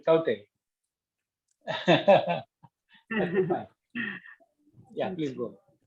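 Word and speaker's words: Tauktae: Spelling is terrible in this case, but finally I found the pronunciation is Taute.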